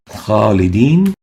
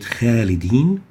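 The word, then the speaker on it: خَالِدِينَ: Khalidin, we don't pronounce it khalidin, but khalidin, kha, not kha. We give it tafkheem for three reasons. First, the letter kha is part of khussadat al-qidh letters, elevation letters, and tafkheem letters.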